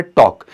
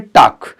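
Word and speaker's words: talk: तो बिल्कुल यहाँ लिसन होगा, टी साइलेंट है। अक्सर आप देखते हो वर्ड आपके सामने आता है टॉक, तो ध्यान रखना है, तो अक्सर इसको हम लोग क्या बोल देते हैं, टाक।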